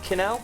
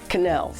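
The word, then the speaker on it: quenelle: Canel. Canels. Canels. Canals.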